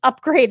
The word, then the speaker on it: Upgrayedd: best bits in the whole thing, which is Upgrade is spelled UPGRAYEDD.